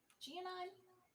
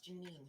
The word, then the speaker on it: Gianine: Gianine? Y'all mispronounce her name as Janine sometimes.